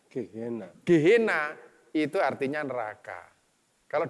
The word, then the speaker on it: Gehenna: dalam bahasa Ibrani dalam bahasa yunaninya itu gehenna bacanya gehenna dihina itu artinya neraka